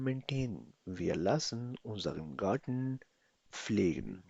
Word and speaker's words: pflegen: Wir lassen unseren Garten pflegen. Pronounce with me, pflegen.